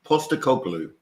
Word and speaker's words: Postecoglou: Sean, for those that don't know, including himself, can you pronounce that again, please? Ange is his first name. And he's Greek. Postecoglou.